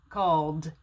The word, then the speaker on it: called: here call call so when i put the ed on the end it's called called i make a d sound not a t sound called called so l